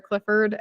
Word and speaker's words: Clifford: If you are interested in finding me on the law side, my legal name is Clifford, and that's Clifford like the big red dog, not Clifford with it.